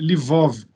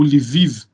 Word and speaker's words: Lviv: Eu estou em Lvov, que é, ou Lviv, a pronúncia mais internacional, que é uma cidade no oeste da Ucrânia, bem próximo à fronteira polonesa.